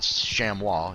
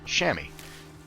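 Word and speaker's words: chamois: So, for anybody who was curious, I was definitely saying it wrong. It's not Shamwa, it's Shammy.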